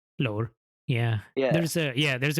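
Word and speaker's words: Lahore: bar mountain or B Bar yeah you just pronounce like when people say L it's not how it's said it's l lore yeah there's a yeah there's a weird tone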